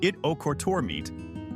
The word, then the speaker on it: Ittoqqortoormiit: Pronounced It-O-Kortormiit, this tiny Arctic town is one of the most isolated settlements in Greenland and the world.